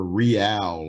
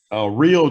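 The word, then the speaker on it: Reál: I totally forgot what her campaign was about anyways, but real change. Oh my god. Yeah, that's what it was. Her last name is Real or Real, but it's spelled R-E-A-L, and that was her slogan, real change.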